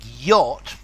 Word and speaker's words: yacht: There are words like yacht, rhymes with not and jot, that only just, uniquely, wholly have to be memorized.